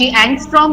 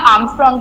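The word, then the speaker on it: ångström: ए के ऊपर डिग्री है, इसको हम या तो ANG एंगस्ट्रॉम बोलेंगे या आर्मस्ट्रॉन्ग बोलेंगे, दोनों ही प्रोनाउंस किया जाता है।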